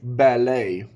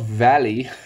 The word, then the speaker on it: ballet: word is ballet ballet girls really like ballet not Valley did you thought ballet